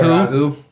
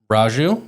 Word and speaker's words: Raju: Ragu. Capil. Ragu. Okay. He's Indian. Or it could be Raju. He's Raju.